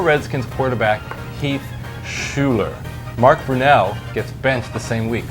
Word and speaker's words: Brunell: Mark Brunell gets benched the same week. Coincidence? Telling you. Did I pronounce Brunell right?